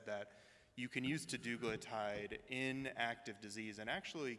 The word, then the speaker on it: teduglutide: So question about, I'm going to mispronounce it, teglutide. Teduglutide.